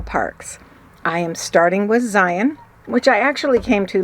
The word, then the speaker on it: Zion: Zion is pronounced Zion like lion, not Zion, which so many people say.